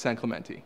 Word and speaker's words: San Clemente: I just wanted to know how the locals say it. So Yeah. it's San Clemente.